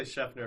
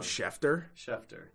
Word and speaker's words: Schefter: heard you say yeah i've heard you say chefner a few times and i've helped adam schefter you sure it's not scheffner yeah absolutely positive how do you spell it